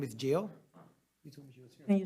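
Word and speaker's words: Gil: Jill who I didn't say last name is Jill can you spell it no g-e-o g-i-l-g-i-l Jill is Miss Jill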